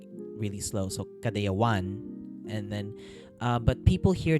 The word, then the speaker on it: Kadayawan: Like the way that you actually pronounce it in the language of where we took that word, you say it as Kadayawan, like with the emphasis on the one.